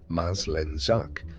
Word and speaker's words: Maslenjak: In one real case, pronounced Maslenjak, an immigrant applicant actually concealed her husband's wartime past from officials.